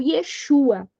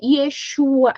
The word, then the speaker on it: Yeshua: Eh, o Iésus é uma uma transliteração do nome hebraico que é o Yeshua, tá? Ou tem tem outras eh forma de falar eh dependendo da pronúncia que é Yesua, é Yeshua, tá?